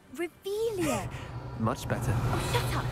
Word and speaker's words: Revelio: Revelius. You're saying it wrong. Ugh, Revelio.